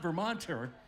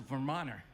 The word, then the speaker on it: Vermonter: Notice there's no T on Vermont. It's not Vermonter. It's a Vermoner.